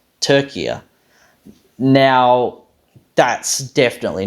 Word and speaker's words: Türkiye: said becomes Turkey right sort of rhymes with sturdier turkia now that's definitely not